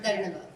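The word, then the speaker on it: Dhanyavad: Or Dharnavad. Dharnava I've heard before. Dharnavad.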